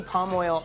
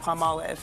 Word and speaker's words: Palmolive: I say palm oil all the time instead of palm olive.